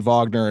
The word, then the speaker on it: Wagner: it's not it's not Wagner though yeah yeah he's from Germany yeah it's interesting with his last name I switched between vogner and Wagner but I hear Wagner a lot it's very interesting